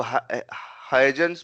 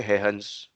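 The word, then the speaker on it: Huygens: तो इसको इसको हाइजेंस भी कोई कोई बोलता है, बट ठीक है, बोलने हम बोल भी सकते हो, बट क्योंकि ये डच थे तो इसको प्रोनाउंस ऐसे करते कि हेहंस प्रिंसिपल।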